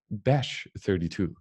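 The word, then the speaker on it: bech32: co-author of the proposal uses a soft ch so that the word sounds like bash 32 name is prominent that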